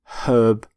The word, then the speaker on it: herb: plant which is herb herb not herb by the way you pronounce the h in the word herbivore